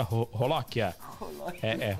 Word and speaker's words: Jolokia: caprichado no purê da Rolóquia. É o nome, olha lá, Jolóquia, só que pronuncia Rolóquia.